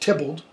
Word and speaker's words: Theobald: spelled theobald th e OB al d it's pronounced templed ok who was an editor of Shakespeare in